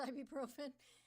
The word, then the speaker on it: ibuprofen: Have him pronounce ibuprofen. Ibuprofen. The U is there. I just kind of glazed by it.